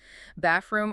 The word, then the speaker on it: bathroom: Bathroom or bathroom with no strong th. Wait, the th in bathroom just disappears. So, it sounds like bathroom or bathroom pretty much.